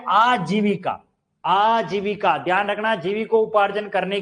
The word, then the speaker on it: आजीविका: अगला हमारी आजीविका, ऐसा बोलते हैं नहीं होता, आजीविका शब्द है।